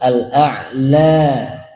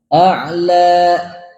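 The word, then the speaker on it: الأعلى: Nah, kalimat al-a'la berhentinya itu tidak seperti kita mengucapkan hamzah di akhir. A'la la, tidak gitu. Tapi seperti suara menghilang. A'la. Nah, tapi tidak boleh kita panjangin juga. Lebih dari 2, cukup 2 saja.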